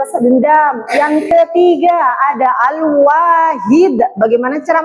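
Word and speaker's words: الواحد: Yang ketiga ada alwahid. Bagaimana cara membacanya yang benar?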